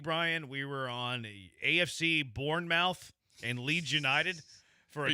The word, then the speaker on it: Bournemouth: You got the pronunciation? Bournemouth. Yeah, you were Bournemouth. Right. Yeah, Bournemouth. It's spelled mouth, though.